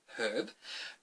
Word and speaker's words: herb: go out and buy this herb because we pronounce the H and Australia so I say herb to go and buy this herb simply to